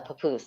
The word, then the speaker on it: papoose: rabbit a Native American is it a papus how do you say that a papoose a papoose there we go I like the Taj